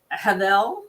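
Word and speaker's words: הֶבֶל: of the soil, and Havel, is that how I pronounce it? Yeah. Havel is B or V.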